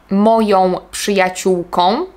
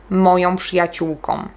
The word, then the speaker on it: moją przyjaciółką: Nie powiem na przykład moją przyjaciółką, powiem moją przyjaciółką. Tak jakby było tam Nie powiem idę do kina z moją przyjaciółką.